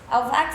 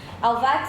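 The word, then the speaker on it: Halbwachs: Alvax se escreve, que lindo isso. Alvax se escreve H-A-L-B-W-A-C, 2 L's não, Alvax.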